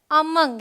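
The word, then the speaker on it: among: silent है इट्स नेसल फिर अमंग यहां पर ओ का साउंड जो है वो अ है रोलिंग हिल्स लिड अ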